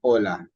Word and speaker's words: hola: So we pronounce these words as though the H weren't there, okay? So we say hotel, zanahoria, and hola.